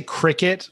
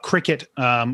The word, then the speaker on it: Cricut: So my wife has I'm going to say Cricut, although there's some controversy on how it's properly pronounced, but my wife has a Cricut crafting machine.